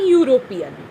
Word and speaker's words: European: So a one-eyed man, a platform, a European, not an European. Why? Euro means Y-double-O, sounds like Y-double, European. So European, it is getting pronounced like that.